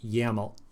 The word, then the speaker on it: YAML: than yml right here we also pronounce this as yaml like the word yaml like so and then if all